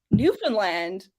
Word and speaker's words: Newfoundland: Oh, it's Just for my American viewers, Newfoundland rhymes with understand.